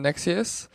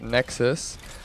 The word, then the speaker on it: Nexuiz: I've been calling it Nexuiz, but it really isn't pronounced like that. It's pronounced, well, it looks like it's pronounced Nexuiz by the way it's being spelled, but that just sounds kind of gay. And I'm pretty sure the developers actually call it Nexus.